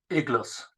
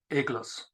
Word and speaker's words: eclas: it very clear that the look at the pronunciation of the word was igles in Old Irish eggless now this is remarkable insofar as a good